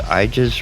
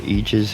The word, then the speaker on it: igus: I believe it's pronounced Aegis or Aegis, I guess.